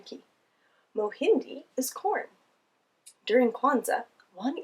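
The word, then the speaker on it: mahindi: family or friends or even on your own mohindi another helpful pronunciation ki mohindi is corn during kwanzaa one ear of corn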